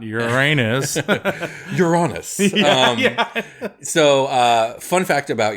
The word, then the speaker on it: Uranus: Hence why I pronounce it Uranus and not Uranus.